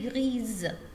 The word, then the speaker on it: grise: Yeah, and if we have one S between two vowels, I will pronounce Z. That's I say grise.